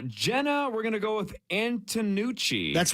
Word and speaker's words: Antonucci: three lengths uh Jenna we're gonna go with antonucci that's right that's how you say it okay